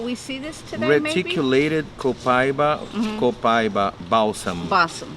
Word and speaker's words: copaiba: i was saying okay yeah that would be copaiba in our language this one is and they say it grows here in brazil oh really yeah so i was wondering will we see this today reticulated copaiba balsam it's a balsam copaiba balsam i don't